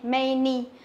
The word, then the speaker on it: many: Bởi vì là duy nhất cái phương án C này thì có từ, có chữ A đọc là âm E, many, many.